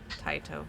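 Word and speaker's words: Tyto: Taito. Like, you know, the thing you tie around your neck, and then the things coming out of your feet, your digits. Taito. So T-I-E-T-O-E. Pronounced yes. Spelled T-Y-T-O. T-Y-T-O. I was incorrect on that. T-Y-T-O. T-Y-T-O. Alright.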